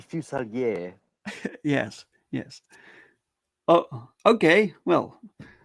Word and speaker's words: Fuselier: Oh yeah, it's originally French, but I think my family technically we pronounce it wrong because we say Yeah. Fuselier, but I know it's supposed to be Fuselier.